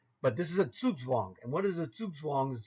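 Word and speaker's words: zugzwang: English-speaking guy like myself first it's a German word and you would say this word based on the way it's spelled in English Zug Zang which you may have used yourself if you weren't taught by somebody who was a much more uh educated chess player or someone who understands German etc etc I you know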